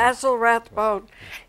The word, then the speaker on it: Basil Rathbone: Basil Rathbone. Basil Rathbone was an MGM star.